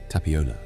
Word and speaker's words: Tapiola: In Finnish, the realm of this forest has a name, Tapiola. Say it slowly. Ta-pi-ola. 4 syllables, each one settling a little lower than the last.